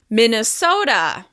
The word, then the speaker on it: Minnesota: This state is stressed on the third syllable. Minnesota.